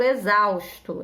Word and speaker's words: exausto: se inscreva com z por exemplo exausto eu estou exausta é com x mas daquele x tem som de z o x com som